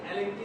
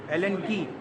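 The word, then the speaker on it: Allen key: मशीनें होती है ना, सब क्या होती है, एलेंकी से खुलती है। एलेंकी बोलते हैं इसको, लिख लो इसको, एलेंकी। इसकी स्पेलिंग है ALLEN, और या फिर इसको L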